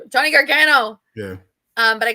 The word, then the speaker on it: Gargano: like all mixed up, and I called Johnny Gargon or Johnny Johnny oh my God. I know how to say his Gargano? freaking name. Johnny Gargano.